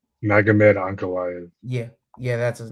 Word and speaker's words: Magomed Ankalaev: Won it back against Magamode. Is that how I pronouncing his name? Magomed Ankalaev.